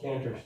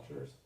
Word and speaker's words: Cantor: It's often called Cantor's theorem, or Cantor's theorem, I should say. I should know enough of German pronunciation to say Cantor instead of Cantor.